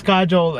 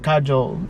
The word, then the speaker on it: Kajol: Like, it's Kajol and why did I say it like that? Kajol.